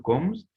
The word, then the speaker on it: kommst: Du kommst, and formula is going to be do equals to st at the end of that verb. Interesting. Interesting. That's it. Du kommst. Kommst. That's how pronounce kommst.